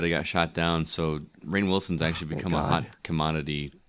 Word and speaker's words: Rainn Wilson: was a spin-off supposedly rumored, but it got shot down, so Rainn Wilson's actually become a hot commodity as of recently, apparently.